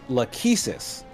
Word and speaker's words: Lachesis: Rachel says, well, if it helps, it's pronounced Lachesis. And she's the key to the next area. She's the measurer. So I'm trying to think of something related to that. Yeah, we've been saying it wrong.